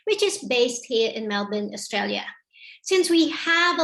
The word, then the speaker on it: Melbourne: for little birds in melbourne so melbourne pronounced locally as melbourne is the capital of